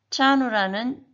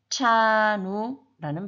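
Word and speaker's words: trano: 그것의 차이는 TR 이 발음은 우리 윗니 뒤쪽에 보면 오돌도돌한 치경이라는 부분이 있는데 거기에 혀를 댔다 떼면 차누가 됩니다. 그래서 트라누도 아니고 차누도 아니고 차누라는 발음이 나게 됩니다.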